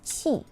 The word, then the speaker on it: 器: The Chinese pronunciation of this word is qi.